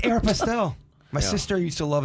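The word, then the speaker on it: Aéropostale: It's Aeropostale.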